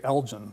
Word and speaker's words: Elgin: I used to always say Elgin, the Elgin marbles. I always mispronounced it. And about a year ago, I looked it up, and it's Elgin.